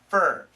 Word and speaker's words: for: For women in particular. For women. Now, perfect pronunciation, for, but many Americans, we shorten it to fur. Just like this one. Your, for, fur. Both pronunciations are fine.